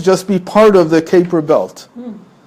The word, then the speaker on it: Kuiper: How do you pronounce it? Kuiper.